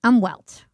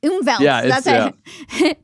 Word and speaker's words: Umwelt: this concept of right umwelt I think that's how you pronounce it umelt it sounds German right exactly um so so